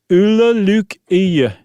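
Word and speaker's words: Ole Lukøje: Ulla Luke Iya. Wow. And it's not dead on, but it's okay.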